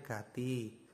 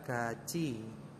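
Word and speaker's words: 같이: misalkan teman-teman belum mengenal ini kan bacanya Gati Nah karena teman-teman sudah mengenal hukum bacaan ini Jadi tiet jika bertemu dengan I maka menjadi Ce atau CA ya Nah ini dibacanya adalah gaci ya GCI artinya bersama Oke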